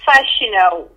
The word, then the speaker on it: Fashino: It's Fashino. It's Fashino. Fashino. Do you want to Yeah, Fashino or Fashino. I pronounce it the French way, so we insist on the I, on the F, sorry, Fashino.